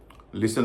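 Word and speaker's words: listen: नहीं हो रहा है लिसन में भी टी का उचर नहीं हो रहा है फसन कसक बांधना इसमें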